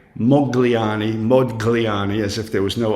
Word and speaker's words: Modigliani: appropriate way is modani to not pronounce the G right but very often